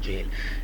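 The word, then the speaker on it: gaol: जेल से भागा है ये जेल पड़ेंगे जी से वो गोल वाले स्पेलिंग से मिलता है लेकिन देखें जी ए ओ एल है जेल एंड ही इज अ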